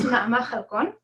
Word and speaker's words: Hallakoun: So it's pronounced Hallakoun. It's not the way it's written.